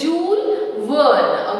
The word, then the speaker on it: Jules Verne: Okay, after reading the book written by Jules Verne, okay, here the pronunciation of this word is Jules Verne, okay, and went off to the moon.